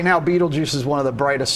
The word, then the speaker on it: Betelgeuse: see when, is it Betelgeuse goes? Beetlejuice. Not Beetlejuice. No, it is. It is Beetlejuice. Yeah, it's literally how you say that.